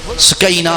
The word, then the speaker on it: سکینہ: سے سکینہ کہتے تھے۔ ہم اردو میں یا پنجابی میں سکینہ بولتے ہیں، لیکن عربی میں صحیح تلفظ سکینہ ہے، سکینہ یعنی سکون اور